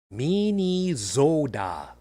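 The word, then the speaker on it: Minnesota: all dead now so this week it's properly pronounced Min Zoda ask anyone who lives up there preferably not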